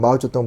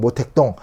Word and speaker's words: 마오쩌둥: 그리고 뭐 덩샤오핑은 등소평, 마오쩌둥 모택동, 이게 불렀죠. 이 인간이 왜 이러고 있었는데, 여러분이 이렇게 그 요즘 발음으로만 기억하시면 돼요.